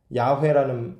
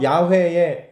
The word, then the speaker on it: 야훼: 근데 신성 사문자는 어떻게 발음하는지를 몰라요. 왜냐면 아무도 말을 안 하니까. 그래서 야훼의 야하면은 YHWH 이게 야훼의 자음이에요. 모음이 뭔지를 몰라요.